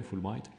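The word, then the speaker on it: Fulbright: été créer les bourses full bright comme ça se prononce en anglais full bright ce sont des bourses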